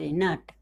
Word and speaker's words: nought: देखिए हम GH का यहाँ जो उच्चारण लगा हुआ है, यहाँ पे GH हम लिखे हैं तो उसका जो उच्चारण है वो साइलेंट आ रहा है। क्या आ रहा है, हम इसको नहीं पढ़ रहे हैं।